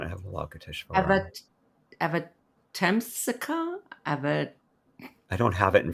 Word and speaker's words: Avatamsaka: phonetically, it's Avatamsaka, I think. That's correct. Sutra. Avatamsaka.